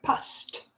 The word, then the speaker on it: passed: I passed my exam. Just like P-A-S-T. That's the pronunciation.